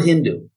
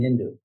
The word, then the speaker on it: Hindu: So they had this interesting speech pattern on the Persian side where they pronounced an S as an H. So Sindhu became Hindu.